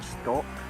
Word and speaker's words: stalk: Normally it's a stock. But you would spell it S-T-A-L-K. Yeah, stalk. Stock.